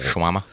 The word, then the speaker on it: shawarma: a shawama bowl um i think it's spelled like show warm uh so but you say it shawarmable shawama yeah is that just because